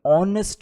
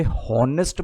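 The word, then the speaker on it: honest: अब एक बात ध्यान रखना कि इसे हॉनेस्ट मत रीड करना कभी भी, ये बहुत गलत बात है। ऑनेस्ट है ये, इसमें एच जो होता है वो साइलेंट होता है, इसको हम ऐसे पढ़ते हैं ऑनेस्ट, ठीक है।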